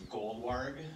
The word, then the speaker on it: Goldwarg: It's okay, my last name is Goldwarg, Goldwarg. Just like it's spelled.